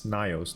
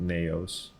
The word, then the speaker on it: Nios: I always get the name wrong. It's Nios, not Neos.